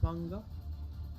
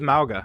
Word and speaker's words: Mauga: Or I think it's Manga. I don't remember how I was saying Mauga. I don't know. I Yep. swear there's like an N in there somewhere. Yeah, it was Mauga, is how it's pronounced.